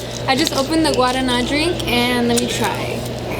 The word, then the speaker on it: guarana: Isn't that an R? Guavana. No. That's a V? The guavana. I think don't correct me on that, but I think. Okay. I just opened the guavana. Is that how you say it? Is that what it is? Guavana. You see, I told you it was an R.